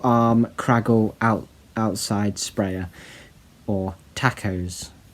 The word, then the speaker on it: TACOS: And he's calling it the Tentacle Arm Kraggle Outside Sprayer, or Tacos. The S is silent.